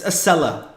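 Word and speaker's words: Acela: know Northeast Corridor the isella corridor as our our journalist friends keep on keep on mispronouncing it's aella a not a or aella no aella it's simple simple English aella but anyway the thing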